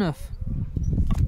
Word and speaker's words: œuf: We say un œuf, and we pronounce the F. Very important. In les œufs, we don't pronounce the F or the S for the plural. They are not pronounced.